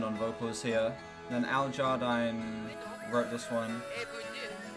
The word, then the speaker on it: Jardine: Then Al Jardine wrote this one. Oh, it's pronounced Jardine.